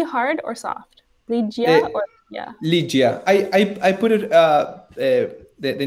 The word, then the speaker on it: Lygia: How do you pronounce it? Is the G hard or soft? Lygia.